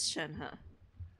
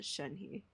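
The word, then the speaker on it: Shenhe: name i knew it it is chenhu wait did i say her name wrong i think i said her name wrong i think i said shenhi oh so your name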